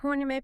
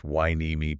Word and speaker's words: Hueneme: And they have free fishing events at Port Hueneme Pier. Which is pronounced Wainimi Pier. Wainimi. Correct.